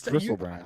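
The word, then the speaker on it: Griselbrand: That's not, you're pronouncing it wrong. It's Gristlebrand.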